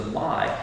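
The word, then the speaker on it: ma: japanese term is the my and it's not spelled m y but it's pronounced my myspace so if you're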